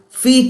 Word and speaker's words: feat: feet at 60 feet here is f e a t feet is something which you do which is an achievement which is a great thing so you have f a t whereas there is another word Fe T also pronounced as feet this I told you is a homophone I will do an